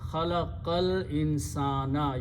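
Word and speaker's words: خلق الإنسان: So now you read khalaqal insana, you don't pronounce this alif in the middle.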